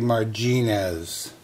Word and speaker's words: Marginez: the right spot but the correct spelling is tuffy marginas like marjoram kind of weird i don't